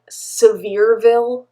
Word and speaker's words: Sevierville: We also spent some time in a cabin in Sevierville. That's how they say it in Tennessee, not even though it's spelled Sevierville.